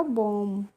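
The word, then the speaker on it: womb: हम क्या हो जाएगा यहां पर हो जाएगा बोम और बोम का मतलब होता है गर्भाशय तो देखिए यहां पर भी हमने बी का प्रोनाउंस एशन नहीं किया है यानी कि बी का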